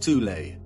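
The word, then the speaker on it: Thule: called the th Society sometimes alternatively pronounced tulle that had subactions within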